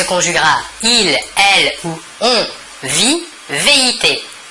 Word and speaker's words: vit: il, elle ou on vit, V-I-T. Nous remarquons que la prononciation du verbe est la même, vit. Nous ne prononçons ni la S finale ni la T finale.